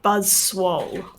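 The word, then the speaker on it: Buzzwole: how to pronounce this he's a buzz wall or bus buzz swallow it was clearly buzz swoll okay good that's cuz he's swole like yeah it's okay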